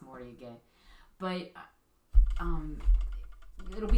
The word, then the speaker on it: Moriage: Moriage is how you're going to hear it. Yeah. Honestly, that's how people are going to refer to it, but it's pronounced Moriage.